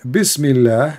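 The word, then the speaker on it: بسم الله: So in the first one in Arabic, it says here Bismillah, and the Allah is written differently.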